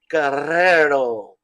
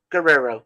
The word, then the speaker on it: Guerrero: from the great Eddie Guerrero that's how you pronounce it gotta Trill those r's the two hours well only if you're in Spain or in Mexico uh or anywhere in the Central America Guerrero we'll just go with